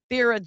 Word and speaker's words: Thera: And is it Thera or Thera? I just want to make sure I'm saying it correctly. It's Thera.